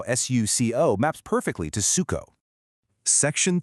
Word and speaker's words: suco: And finally, an o at the end of a word, at least in many dialects, often softens into an oo sound as well. And that's exactly how s u c o maps perfectly to suco.